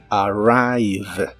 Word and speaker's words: arrive: significa llegar o arribar la r se pronuncia muy suavemente y lleva otro sonido a antes de la i arrive arrive y usaremos el